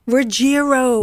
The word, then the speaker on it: Ruggiero: Ruggiero.